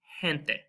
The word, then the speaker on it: gente: And we have words like gente. So it's just like an H.